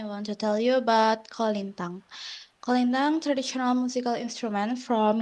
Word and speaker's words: kolintang: Uh, First of all, can you teach me how to say it right? Kolintan? How to Kolintang. Kolintan? Yes, that's right.